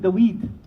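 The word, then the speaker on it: דוד: You know, Dawood, the Hebrews pronounce it Daweed. Daweed, and from which the English pronunciation David comes.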